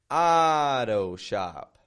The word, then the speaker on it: auto shop: Auto shop. Auto shop. Notice the sound in that. Strong, weak, strong.